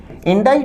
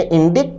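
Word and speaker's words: indict: होगा इन डाइट विद्यार्थियों उच्चारण पर ध्यान दें इंडा शब्द में सी साइलेंट होता है इसे इंडिक्ट ना कहे इंडा कहे अपार्ट आप जानते हैं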